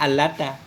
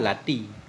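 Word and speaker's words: اللات: Kita enak bacanya allata. Lata wal uzza, padahal lati.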